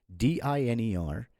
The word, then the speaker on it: diner: So for example, D-I-N-E-R is diner, okay? But then when you add another N in between, so it becomes D-I-N-N-E-R, and since N is a consonant, so it becomes a double consonant with double N, and the I sound is shortened, so it becomes dinner instead of diner.